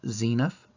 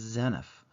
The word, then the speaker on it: Zeniff: always pronounced it as zeniff but if you look at the Book of Mormon pronunciation chart the e is long so it should be